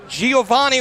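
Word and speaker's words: Giovanni: on that GI so Giovani is spelled a little different than the way I would think about pronouncing it that way it's j i o v i o n n i when you have the O after the I Giovani doesn't really come right to mind and Wilson will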